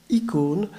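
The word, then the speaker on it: εἰκών: autant en grec, où le même mot, eikon, prononcé icône, désigne et l'image et l'icône.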